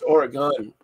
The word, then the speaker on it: Oregon: or something like that it's Oregon or a gun we're getting pronounced we're